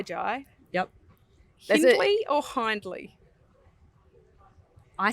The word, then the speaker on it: Jai: I'm sorry Joel Jai we know it's Jai like y like why Jai yep basically or hindly